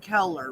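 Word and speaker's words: Koehler: spelling it both ways it and it is pronounced color right yes okay is it k h or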